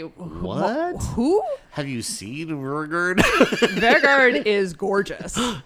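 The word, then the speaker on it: Vegard: Vergard. Vergard.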